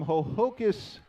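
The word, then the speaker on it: Ho-Ho-Kus: graduate student at six - she is from ho-ho 'kiss New Jersey it is spelled h o - h o - kay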